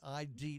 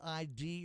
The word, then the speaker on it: ID: i i d now do you pronounce it ID or is it I'd no ID yes as in the place of play on the word identity so as in an ID card or um so uh